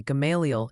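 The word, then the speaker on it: Gamaliel: Also, quick PSA from the pronunciation posi. Apparently, Galial is galia and meabone sounds more like me.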